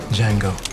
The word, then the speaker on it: Django: What's your name? Django. The D is silent.